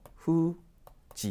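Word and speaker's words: 不治: 그때는 또 후지 이렇게 읽혀요. 그래서 불치병 뭐 참고로 한번 알아두십시오. 이 병도 여러분 묘기라는 단어만 기억하지 마시고요. 혼자 쓰면 이렇게 야마이라고 읽습니다. 그래서 후지노 야마이 하게 되면 이것이 이제 불치병이라는 의미의 단어가 됩니다.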